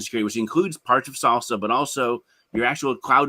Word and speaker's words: SLSA: so Google recently released salsa yeah and again I'm going to probably butcher the term it's slsa.dev and it's basically secure